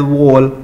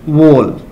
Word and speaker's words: whorl: So we have to pronounce this word as whorl. So R will be silent here in this word, whorl.